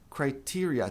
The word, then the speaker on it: criteria: Criteria. Tem muita gente que acha que criteria é o singular, mas não é. O singular é criterion, plural criteria.